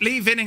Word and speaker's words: Lee Vining: Uh Moose says Lee Vining is pronounced vining. Yeah, why just change that? Lee vining. It was named after someone called Lee Vining. Obviously, you see, if it was vining, it would have had two ends.